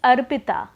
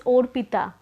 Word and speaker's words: Arpita: Like my name is Arpita, this is a right pronunciation. But because of mother tongue influence, many Bengali people would call me as Orpita, because we have the dialect O like that in our mother tongue.